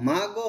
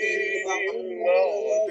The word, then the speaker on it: المغضوب: غير المغضوب المغضوب আচ্ছা এখানে গয়নের উচ্চারণটা খেয়াল করুন এটা বেশিরভাগই ভুল হয় কিরকম হয় মাগো হয়ে যায় মাগো এটা